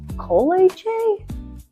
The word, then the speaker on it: kolache: When you walk into Coach's Kolaches, you might be a little overwhelmed by all the great choices, but do not be overwhelmed by how to say it. What the kolache?